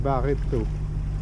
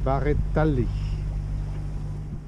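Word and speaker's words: Barrettali: sans doute en haut la commune de bareto non de baretali et là se dirige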